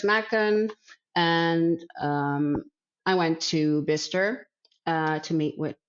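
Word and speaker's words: Bicester: And I went to Bister to meet with, I'm saying it right, it's Bister, huh? That's correct, yeah.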